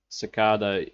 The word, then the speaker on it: cicada: trash tape traced podcast cicada is an american pronunciation and then sakada is an uh british one in russia we say sakada so just instead of